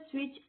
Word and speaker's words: switch: Turn the स्विच ऑन। स्विच में हमारे पास SWITCH। यहाँ पे टी जो है ये हमारे पास साइलेंट लेटर है बिकॉज ये कोई भी साउंड प्रोड्यूस नहीं कर रहा है।